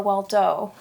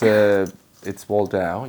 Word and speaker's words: Waldau: I had to ask outside, is it Waldau or Waldo? Listen, it's Waldau.